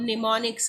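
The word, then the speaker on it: mnemonics: Alphabetical code होते हैं जिसको हम निमोनिक्स कहते हैं, ठीक है, एम साइलेंट है, निमोनिक्स वर्ड है ये।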